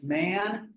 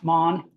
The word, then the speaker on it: Mann: Thomas Mann is how we would say his name in American English, but do keep in mind that his name is, in fact, Thomas Mann.